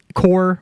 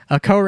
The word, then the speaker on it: Kore: uh base version um core or kore kore is actually the xi'an pronunciation and also actually um